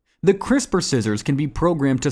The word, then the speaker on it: CRISPR: It's pronounced like crisper, just like when your mom puts vegetables in the crisper drawer of the refrigerator.